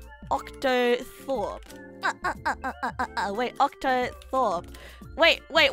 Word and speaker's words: octothorpe: these nuts jokes it's just it's just an octathorb octothorpe oh wait October wait wait wait octothorps no oh no you spell it like o c t o t h